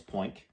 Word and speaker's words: Poink: Lori was Poink, like oink with a P, which was a combination of pretty and pink since she was a girl.